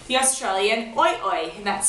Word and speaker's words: OiOi: So, without further ado, the bag that I use is called the Australian Oi Oi, and that's spelled O-I-O-I.